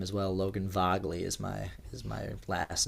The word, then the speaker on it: Vagle: name as well Logan vogley is my is my last name pronunciation oh well spell that for us VA a uh g l e and say it again vagley vley oh okay Norwegian yeah okay and David